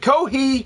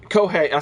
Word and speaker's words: Kohei: went to Japan mainly because of Koh hey kohi uh kohe I said it right kohei yakamura um and then